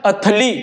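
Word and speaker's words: utterly: इसे हम लोग अटरली, मोस्ट ऑफ लोग पढ़ेंगे इसे अटरली, बट इसका प्रोनाउंसिएशन होता है अथली।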